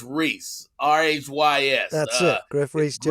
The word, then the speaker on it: Rhys: when you see him but not rice is pronounced rhys r-h-y-s that's it griffray's two rip reach jones